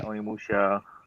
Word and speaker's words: Onimusha: Yeah, Onimusha.